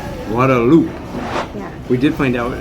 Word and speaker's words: Guadeloupe: Gualoop. Yeah, we did find out um that it's not Guadalupe, it's Guadaloop really um is how they pronounce it.